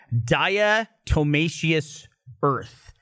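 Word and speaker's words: diatomaceous earth: was talking about earlier I'm not the other pronounces correctly it's daya Tomei sheis earth it's some kind of like powderized fossil stone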